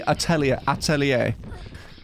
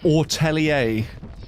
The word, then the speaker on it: atelier: I swear it's like meant to be atelier. and not Ortellier like how she says it, but it seems like it's Am I the one that's wrong?